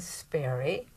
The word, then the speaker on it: Sparre: maybe first having you say your name and spell it for us okay I am sper and uh is I ne G